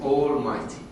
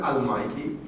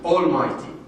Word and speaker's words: Almighty: It is Almighty. Don't be misled by the A. It is not Almighty. Yes, it is A-L, but it was not pronounced as if it is O. Almighty.